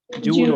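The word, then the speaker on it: joule: no it's it's a jewel it's pronounce as Jewel while for temper I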